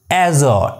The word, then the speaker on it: azure: it's your arjoine azure the card pronunciation of this word is azo as or as or so handkerchief handful sandbag